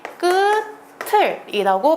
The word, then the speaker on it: 끝을: 얘는 이 모음이 아니고 의잖아요. 이럴 때는요, 형식 형태수, 모음으로 시작하는 형식 형태수가 붙을 때는 무조건 연음하는 것이 원칙입니다. 그래서 얘 끝을이라고 발음해야 됩니다.